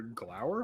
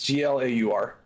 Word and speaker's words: Glaur: So with a mighty blast of the of your glower horn. Is that how you pronounce it? Glower. Yeah, it's Glaur.